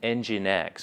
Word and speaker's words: Nginx: web Trojan that also affect Light HTTP and Nginx, which is spelled Nginx.